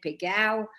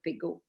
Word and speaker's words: Pégau: If they pretend to speak Provençal, they said Pégau, or if they speak French, they say Pégau.